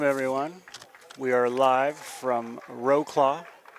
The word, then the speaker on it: Wrocław: We are live from Wrocław, Poland. Better known as Wrocław, is the correct pronunciation.